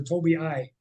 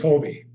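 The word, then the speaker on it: Tobii: that's another thing cat is that pronounced Toby dinox or Toby I dinox Toby Toby dyox it's Toby okay there's two eyes in there so I was wondering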